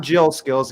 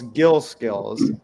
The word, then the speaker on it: Gil Skills: Not Jill Skills, Gill Skills.